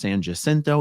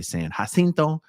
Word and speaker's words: San Jacinto: I'm told that's pronounced San Jacinto, even though I would usually say San Jacinto.